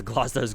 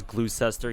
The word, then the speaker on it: Gloucester: knock naria got it they used to pronounce gloucester's glue cester yeah Gloucester and then uh yeah plenty